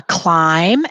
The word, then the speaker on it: climb: you're writing it down a climb and that has a silent at the end a climb or walk